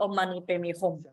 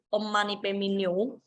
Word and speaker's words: Om Mani Padme Hum: Ternyata saya sudah menjapa mantra yang salah selama 30 tahun. Dan namun nenek tua itu karena ini ya bertekad penuh dan dia pun segera mengubah cara membacanya menjadi Om Mani Padme Hum.